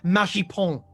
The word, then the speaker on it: Magic Pants: And it's pronounced Magipon.